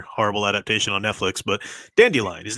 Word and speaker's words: Dandelion: different in their horrible adaptation on Netflix but dandelion his name is dandelion but the guy reading the first two books pronounced it done Dillion trying to make it cooler or something you